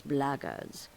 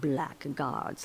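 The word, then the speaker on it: blackguards: If you're another one of those blackards, and that's the way to pronounce it, not black guards like that thug insisted it was, then my answer is the same.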